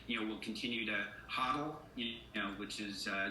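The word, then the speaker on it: HODL: uh a generational wealth i've been pronouncing hot or wrong this entire time i've continued to say total but huddle is exactly uh the way that we will go forward from here thank you for that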